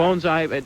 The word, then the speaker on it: bonsai: We are actually lucky because we also have the vice president of the Bonsai Club, and I am pronouncing that correctly, aren't I, Virginia? Yes, sir. You are. Bonsai.